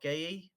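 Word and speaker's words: Guéhi: Mark is it um how do you pronounce it? Is it Mark Gaye? I think it's just Goo Goo.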